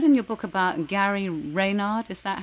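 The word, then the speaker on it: Renard: I read in your book about Gary Rayard. Is that how you pronounce his name? Rainard.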